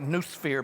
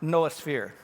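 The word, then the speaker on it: noosphere: the way it's spelled some of you may think that looks like new sphere but it's not it's pronounced noah sphere now what is this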